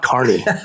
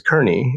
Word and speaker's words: Kearney: Carney. That is not Carney. So I am giving him what should be pronounced as Kearney in San Francisco.